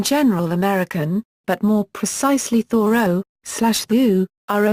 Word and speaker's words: Thoreau: be pronounced vu row with the H sounded and stress on the first syllable another perhaps more common